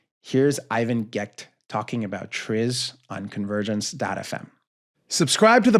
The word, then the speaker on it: TRIZ: T R I Z is what we're pronouncing Tris.